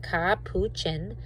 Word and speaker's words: capuchin: a clever cappuccin ca and it tells you how to pronounce it ka puchen mother teaches her baby